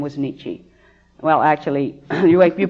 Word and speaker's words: Nietzsche: a little black cat and her name was Nietzsche well actually you wait you pronounce you know neat weenie she is supposed to be pronounced Nietzsche but when you have a cat you have